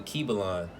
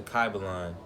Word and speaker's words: Kybalion: from the book called the key belong or pronounce the car belong alright this book right